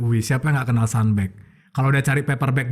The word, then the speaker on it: Sunbag: juga akhirnya tercetuslah sunback jadi bacanya sunback Ya bukan sunback ya kadang masih ada yang Sumbang cuma kalau yang kadang tamu itu ya udah sanback atau ya kalau udah bule pasti bacanya standby tapi kan namanya sunhaji